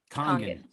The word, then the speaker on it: Kangen: Kangen.